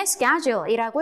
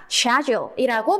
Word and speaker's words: schedule: 그래서 미국식 발음이 우리는 익숙하기 때문에 schedule이라고 했을 때는 알아듣기가 쉽습니다. 그죠? 근데 하지만 영국에서는 schedule이라는 단어를 딱 만났을 때 뭐라고 발음을 하냐면 schedule이라고 발음을 합니다.